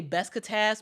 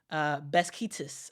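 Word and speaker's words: Beşiktaş: My favorite team overseas is I always say Besiktas, but that's not how to pronounce it. That's Beskitas. I think that's how you actually pronounce it.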